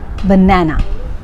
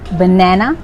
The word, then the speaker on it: banana: vowel sounds for example try saying banana and emphasize the second syllable this one banana or you can say banana or banana both are correct silent